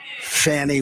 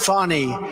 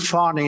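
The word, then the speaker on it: Fani: the horrible case of Fanny Willis it's it's actually pronounced fonny it's f a n i but you pronounce it fonny a little French accent there fonny but that's a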